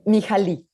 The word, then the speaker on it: Mihaly: Mihaly.